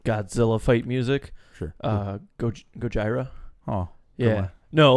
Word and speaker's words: Gojira: well look fun fact they got their name from like the mispronunciation of Godzilla you know you speak with your ax yeah Gojira yeah you see it